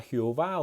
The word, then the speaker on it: Jehová: judía en esa época, que era Jehová o Yahweeh o Yahvé, ya según como lo quieras pronunciar.